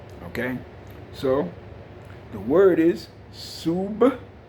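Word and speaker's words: سبحان الله: So, the word is Subhanallah. Sub, and it's very important, emphasize that B sound at the end.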